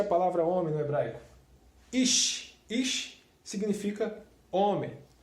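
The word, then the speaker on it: איש: lá temos aqui a palavra homem como se pronuncia a palavra homem né Braga iche iche significa homem e essa aqui são as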